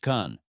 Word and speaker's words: 看: Question number six is about the character Khan, pronounced Khan.